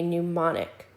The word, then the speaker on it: mnemonic: And one of those ways to memorize bulk material is to use something called a mnemonic. The M is silent.